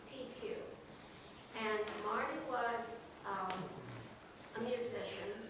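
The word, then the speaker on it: Piecuch: didn't know Marty his name was spelled p-i-e-c-u-c-h pronounced PQ and Marty was a musician here in town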